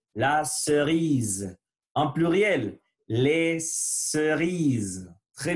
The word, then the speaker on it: cerise: La cerise. Il faut faire vibrer. Zzz. La cerise.